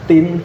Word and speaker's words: Tien: bahasa Melayu zaman Belanda kalau ada tulisan I belakangnya harus dibeli e jadi Tin Seharusnya nulisannya kan t i n tapi karena ejaan itu i di belakang i-nya itu disertai huruf e jadi tulisannya Tien ya Tapi bacanya Tim Kok si si-ya kan